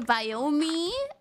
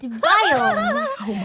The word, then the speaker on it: biome: I say iron, and I say Biomi.